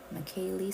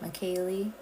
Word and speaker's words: Michel: are welcome and again the way you pronounce my name is Micha michy Michel say it with me Michel love it thanks Kevin